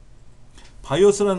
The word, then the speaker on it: BIOS: 바이오스란 말이 나와요? 바이오스? 우리 책이 어디 있나요? 바이오스. BIOS의 줄임말이라서 콩글리시로 바이오스라고 읽어요.